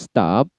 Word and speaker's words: stopped: dia dana di sana stop itu berakhiran t di masuk kepada anfis konsonan selain c jadi akhiran edzona tulisannya stopped tapi cara bacanya adalah stop stop stop t airnya teh bukan stopped begitu Bukan tetapi stop stop